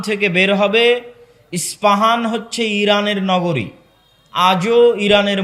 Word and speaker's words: ইস্পাহান: ইস্পাহান থেকে বের হবে ইস্পাহান হচ্ছে ইরানের নগরী আজও ইরানের মধ্যে ইস্পাহান নামে সেই নগরী আছে আমরা প উচ্চারণ করি আরবিতে এটা উচ্চারণ হয় না আরবিতে হয় আল আসবাহানি বা উচ্চারণ হয় ইসবাহান আসবাহানি সেখান থেকে 70